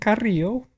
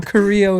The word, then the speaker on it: Carrillo: Yeah, so my name is Carrillo, or Carrillo. That's uh, probably can't roll your Rs. can't roll your Rs, just you know, Carrillo is totally fine.